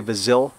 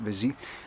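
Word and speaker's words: Vizille: I would say Vizil, V-I-Z-I-L-L-E. I think they pronounce it Vizy.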